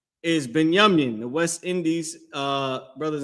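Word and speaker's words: בנימין: How you say that in Hebrew is Banyamin. If you can number them for me, too. Um, just so they can know where we at. Right. Is Beyamin.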